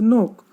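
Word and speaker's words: knee: नी, नी में के है।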